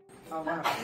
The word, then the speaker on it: hour: Hour, not hour. H is silent. H silent.